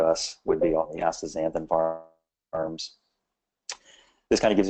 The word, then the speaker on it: astaxanthin: Just pretend the X is a Z. So it's very simple. It's astaxanthin.